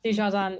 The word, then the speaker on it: Dujardin: Because I know Dujardin, yeah, she has actually become Britain's most decorated female Olympian.